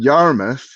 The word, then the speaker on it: Yarmouth: different to yarmouth and people from yarmouth hate it if you roll your r's because that's what they do in bristol whereas in in yarmouth they don't they just yarmouth yarmouth it's there's there's no rolling of an r so i was like